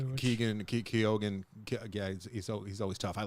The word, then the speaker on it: Keoghan: Barry Keoghan was fantastic. If I'm pronouncing that correctly. Keoghan, yeah, he's always tough.